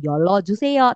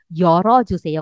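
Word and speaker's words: 열어 주세요: By the way ini yolnya huruf L. Ketika dia bertemu dengan vokal maka dia akan berubah menjadi R. Jadi dibacanya yoro. Bukan yolo juseo tapi yoro joseo. Kenapa seperti itu say? Karena dia bertemu dengan vokal. Vokal O maka dia jadinya R ya. Dia balik ke R.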